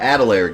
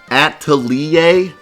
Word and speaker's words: atelier: uh the adelaide games there's like 50 adelaide games death you're pronouncing it wrong it's french at atelier at antalya i want